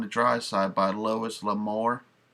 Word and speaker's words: L'Amour: Next we got Over on the Dry Side by Lois L'Amour. I think that's how you pronounce out his name, L'Amour.